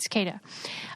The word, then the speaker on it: cicada: Cicada. Okay, so anyway. Oh, it is an S. Yeah, okay. No, it's a C. Mind.